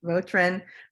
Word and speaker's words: Vautrin: And we're very excited to have Vautrin. Did I pronounce that right? Yeah, you bet. Vautrin, operating partner for Union Square Travel Agency.